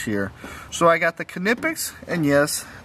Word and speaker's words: Knipex: So I got the Knipex, and yes, the K is pronounced. It is Knipex.